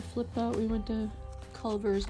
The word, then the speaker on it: Culver's: We went to Culver's. My 96-year-old father-in-law pronounces it Cleaver.